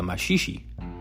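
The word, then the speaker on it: maxixe: polka music and a popular dance called the mashishi Max i x e the mashishi is a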